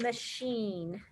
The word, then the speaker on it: machine: let's do the word machine machine we got an ice machine for our garage because it's always so hot machine m-a-c-h-i-n-e not machine or machine machine so that's got a weird it's a little tricky